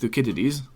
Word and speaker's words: Thucydides: I was just reading some stuff in Thucydides the other day, and it is actually pronounced Thucydides.